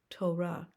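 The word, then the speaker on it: תורה: referring to yourself Ani first syllable toe repeat toe second syllable repeat ra complete word together Torah Torah Torah the first five books of the Bible written as a scroll Torah shalom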